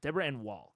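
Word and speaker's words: Deborah Ann Woll: Since you may be saying her name a lot, I usually hear it pronounced like Wall. Deborah Ann Wall.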